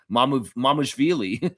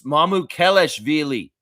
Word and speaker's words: Mamukelashvili: That's how you say it, Eric Reed, you idiot. Mamushvili. Mamushvili. Sandro Mamushvili. It's Mamukelashvili.